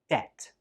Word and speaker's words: debt: This word also has a silent B, but the B is actually in the middle of the word. So we pronounce this word like debt. Debt. Again, there is no B sound when we say this word.